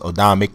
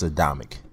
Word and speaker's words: Adamek: here is this is adamic or uh oamic depending on how you pronounce it I think it's adamic but so you know adamic